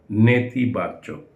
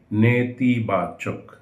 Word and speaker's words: নেতিবাচক: নেতিবাচক, আমরা ভুল করে প্রায় নীতিবাচক বলে থাকি। নীতির অর্থ ভিন্ন, নেতির অর্থ ভিন্ন। নেতি মানে হলো ঋণাত্মক, মানে নেগেটিভ। নেতিবাচক, নীতিবাচক না, নেতিবাচক।